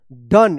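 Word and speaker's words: done: कम यहां पे भी ओ का अ उच्चारण होगा। डी ओ एन ई डन। इसको डोंट मत पढ़िएगा।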